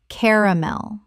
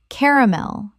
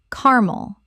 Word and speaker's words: caramel: Caramel. Correct pronunciation. Caramel or carmel. Both are accepted but the three syllable version is more standard in British English.